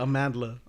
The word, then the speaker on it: Amandla: okay i guess but amandla yeah a mandla why no there's an l why though who did this poor child how do you spell that amanda a man why did it nevermind because it's trash no amandla oh that's weird a mandala or a amanda amanda a man like amanda but add an l between the d